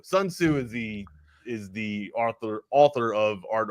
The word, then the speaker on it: Sun Tzu: It's Sun Tzu, but if I said it like that, it's because I was just rambling off with the time. It's Sun Tzu. Sun Tzu is the author of Art of War.